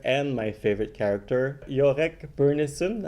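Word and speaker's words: Byrnison: my favorite character jorek burnison am i saying it correctly yeah i think it's bernison that's what that's how they say it in the book he's one of my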